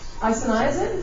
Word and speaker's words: isoniazid: isoniazid.